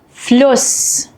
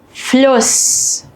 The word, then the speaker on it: Fluss: While both are pronounced the same unvoiced S, they affect the vowel before them. A double S shortens the vowel and an SZ lengthens the vowel.